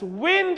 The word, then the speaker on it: wind: of this Mission so so we read it as wind is fast moving air you all know that